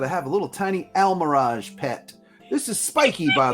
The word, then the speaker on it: Almiraj: Like, Just friends, for those of you who don't know what an Almirage is, do yourself a favor and Google it. It is spelled Almiraj. Almirage. Yes.